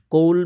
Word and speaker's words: coal: কোল means COAL, এর উচ্চারণটা কৌল।